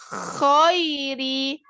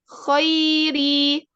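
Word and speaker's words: خَيْرِ: Nah, huruf kho, jangan pakai awalan khairi, tapi langsung khairi, nggak boleh khairi gitu.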